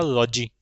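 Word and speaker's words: -logy: Study की बात में आ जाएगा लॉजी। क्या होता है भैया? लॉजी। बोलते वैसे इसको लॉजी है, लेकिन इसका जो करेक्ट और एक्चुअल प्रोनाउंसिएशन होता है वो होता है लजी।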